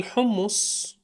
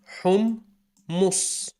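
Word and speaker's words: حمّص: So it's pronounced hummus, not hummus or himus, hummus, not hummus, hummus. Notice the tightening, the assertion.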